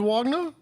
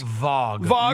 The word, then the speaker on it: Wagner: Franz Wagner? Yeah, Franz. Franz. Vog.